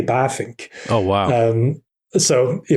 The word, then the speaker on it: Bavinck: but then you know in dutch the letter v is pronounced as an f in english so it's really baffink oh wow um so